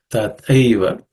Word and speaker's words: Tathaiva: The Thai is the second letter in the third class of consonants, so it has to be aspirated. Tathaiva Drishtatvat.